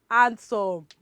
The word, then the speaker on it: handsome: How do you pronounce that? Handsome. So let us look at the letter we will be taking off. I mean, that will go silent. Which letter? It is letter D.